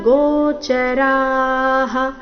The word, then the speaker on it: ಗೋಚರಾಃ: ದಶೈಕ ಪಂಚ ಪಂಚಚೇಂದ್ರಿಯ ಗೋಚರಾಹ ಪಂಚಚೇಂದ್ರಿಯ ಗೋಚರಾಹ ರ ದೀರ್ಘ ಹೇಳಿ ನಂತರ ವಿಸರ್ಗದ ಉಚ್ಚಾರಣೆ ಹೇಳಬೇಕು ನೋಡೋಣ ಪೂರ್ತಿ ಶ್ಲೋಕ ಮೂಲಗೀತೆಯ